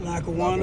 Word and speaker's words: Lackawanna: Lackawanna.